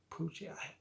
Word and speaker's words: Pucci: adaptation Lou Taylor cochi it's spelled p-u-c-c-i poochie I think he's been